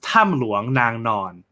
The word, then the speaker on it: Tham Luang Nang Non: be saying it um in this case it's tam luang nang non can you say tam luang tam nuang